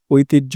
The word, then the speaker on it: ঐতিহ্য: Bangla academy প্রমিত বাংলা উচ্চারণ অভিধান অনুযায়ী ঐতিহ্য শব্দের সঠিক উচ্চারণ হলো ঐতিহ্য। এখানে ওই এর উচ্চারণ ও ই এর মতো হয় এবং যুক্তাক্ষর হজ্জ এর উচ্চারণ জ ঝ এর মতো হয়।